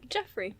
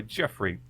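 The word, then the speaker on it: Geoffrey: would you pronounce that name I say Jeff Jeffrey Jeffrey but it's spelled with a g g e o f f r e y Jeffrey Jeffrey Pike as a German you YouTu submarine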